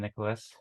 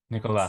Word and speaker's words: Nicola: pronouncing your name is should I be pronouncing it Nicola rather than Nicholas okay so uh yeah Nicola sorry it's my name